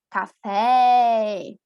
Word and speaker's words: café: Então, o acento agudo, nós consideramos mais aberto. Café.